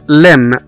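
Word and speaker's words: limb: وزي كمان كلمة كلايم، كلايم أو يتسلق، كلايم، C-L-I-M-B، كلايم، هنا كمان ما نطقناش حرف البي. وزي كلمة لم، لم، L-I-M-B، لم، اللي هو عضو من أعضاء الجسم بتاع الإنسان، L-I-M-B، هنا ما نطقناش حرف البي.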